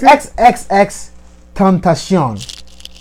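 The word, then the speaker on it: XXXTentacion: It's XXX Tentacion.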